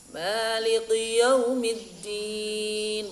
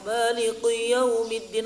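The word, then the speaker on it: مَالِكِ يَوْمِ الدِّينِ: Maliki yaumiddin. Artinya kemarin apa? Kalau dengan qaf. Kaf, Malik, raja. Kalau dengan qaf, yang kalau maliki, malikun dengan kaf artinya yang menguasai, yang memiliki ya.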